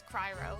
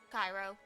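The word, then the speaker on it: Cryo: her cutest aggression because of the way I mispronounce Pyro and Cairo in Genshin, and she's like, it's Cryro. I'm like, Cryro? She's like, yes. Pyro, and then Cryro. Cryro, Cryro, Cryro. Cairo, Cryro.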